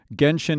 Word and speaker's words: Genshin: Genshin Impact. It's Gen, not Jen.